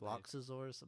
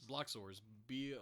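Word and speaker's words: Bloxorz: played boxes i have you're adding like two syllables to that loxazor's blocks is it block sores block sores i'm saying i know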